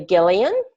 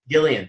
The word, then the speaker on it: Gillian: one of the questions though before we start, the pronunciation of my name is actually Gillian. Gillian, thank you.